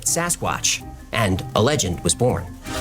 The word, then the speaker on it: Sasquatch: Mainstream media anglicized the pronunciation and called it Sasquatch and a legend was born.